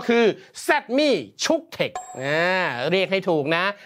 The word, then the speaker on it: Cuktech: นั่น ก็ คือ zmi chook Tech อ่า เรียก ให้ ถูก นะ ภาษา ไทย ออก เสียง แบบ นี้ เลย นะ zmi นะ ไม่ ใช่ ี่ี่ ุค เทค ด้วย นะ ไม่ ใช่ คุก เทค อ่า นะ ฮะ แล้ว